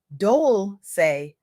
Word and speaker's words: Dolce: Leanne Dolce, pronounced Dolce, like sweet softness whispered in French, hosts the Soft Girl